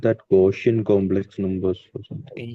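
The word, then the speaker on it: Gaussian: Set of gshian integers goshian integers sir. Ah some people say it like goshian integers. Okay. Okay. Okay sir. Gossian complex numbers also people do say there is also a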